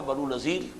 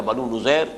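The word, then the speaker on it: نضیر: بعد سن 4 میں بنو نذیر یا بنو نذیر، اس کے دونوں تلفظ ہیں، ان کی طرف سے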